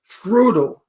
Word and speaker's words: Strudel: do you pronounce it strudel Str no it's pronounced trudel it's in German you PR I pronounce things